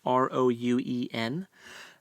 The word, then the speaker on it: Rouen: taken to the castle in, I believe it's pronounced Rouen. It's Rouen.